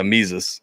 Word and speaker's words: Mises: I think his Mises, is that how it's pronounced? Yeah, Mises. I've never heard anyone say it out loud, so I wasn't sure. It's like Jesus with an M at the beginning.